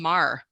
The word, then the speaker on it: Mar: I see we have a hand here from Mar go ahead and open your mic and please correct my pronunciation if I said your name wrong uh